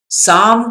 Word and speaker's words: Psalm: साम का मतलब होता है एक सॉन्ग, इंस्पिरेशनल सॉन्ग, और इसका प्रोनाउंसिएशन PSALM, कुछ लोग पसलम भी पढ़ते हैं। तो दोस्तों, ये रॉन्ग प्रोनाउंसिएशन है, इसका राइट प्रोनाउंसिएशन होगा साम, साम ऑफ लाइफ।